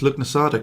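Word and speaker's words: Lughnasadh: is actually real really i can't believe i pronounced luc nasada correctly um i've not seen that word for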